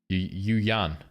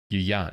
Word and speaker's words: Yuan: Yu Yan. Yu Yan. That is not how you pronounce it. Really? Yuan. Yuan. Yuan. Okay, I was going to say Yu Yan. Hell no. Yuan.